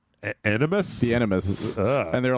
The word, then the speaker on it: Animus: They said it like enema. Animus?